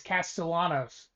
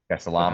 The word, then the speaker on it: Castellanos: Not the not the better Castanos, but yeah, there's there's no accent over the double L's. It's Castellanos. Castalanos. According to um the people in Boston that for sure pronounce everything correctly.